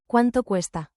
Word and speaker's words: cuánto cuesta: Pronunciation beat, clap the rhythm with me to lock it in. Four beats. Juan to cuesta? Cuánto cuesta? Smile on the rising stress of cue as then let it fall.